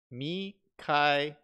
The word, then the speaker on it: Mikael: Oh, he's saying my name is pronounced like Mackay, as in kite, but without the T in kite and L. Mikael.